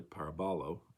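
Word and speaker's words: παραβολή: actually comes from the Greek word parabolo parabolo rather parabolo Accent on the third symbol uh syllable and uh it's it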